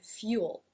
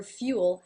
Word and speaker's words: fuel: the dark L sound so few is part of the word fuel how our fuel has those two extra sounds on the end the Oh full o the dark L the two sounds that